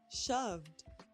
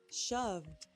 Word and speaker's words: shoved: Shoved. Shoved. Shoved is a d ending also.